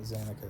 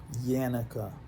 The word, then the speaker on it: Yanuka: being is Anika or not how you say it again not zanika sorry thank you yanica y-n-u-k-a and when you watch